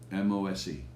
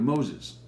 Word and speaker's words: MOSE: MOSE, Okay. which apparently in Italian, that's how you refer to Moses. They don't say Moses, they just say MOSE in Italian, Okay.